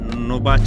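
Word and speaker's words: Novaci: এটার সংযোগকারী শহর নোবাচ। মানে ইংলিশে যদি বানান করে বলি এন ওভি এ সি I Romanian ভাষায় নোবাচ বলা হয় এটি আলবা কান্ট্রিতে অবস্থিত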